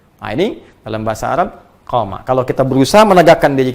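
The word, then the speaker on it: قام: Jadi qama yaqumu. Qama. Ingat, qama. Ya, bukan titik. Dan qama, panjang bacanya.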